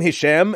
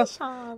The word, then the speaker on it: Hisham: You know how many mispronunciations exist to the name Hisham in North America? Hisham. Yeah, they're like Hisham or Hi Sham or His Ham.